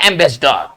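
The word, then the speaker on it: ambassador: देखिए हम पढ़ क्या रहे हैं, लिख क्या रहे हैं, इसका सही उच्चारण होगा एम्बेसडर, ठीक है ना, एम्बेसडर। लेकिन लिख क्या रहे हैं? एम्बासा, है ना, एम्बेसडर नहीं। ये बहुत इंपॉर्टेंट ये सेक्शन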